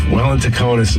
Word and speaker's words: Welintukonis: Welintukonis.